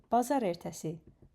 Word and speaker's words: bazar ertəsi: Today is Monday, so the word of today is pazar ertesi.